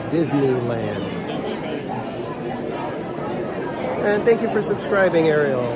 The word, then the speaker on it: Disneyland: like that it's like I always try to make sure that I say Disneyland cuz there's a lot of people they just call it dizzyland and it's not dizzyland it's Disneyland and thank you for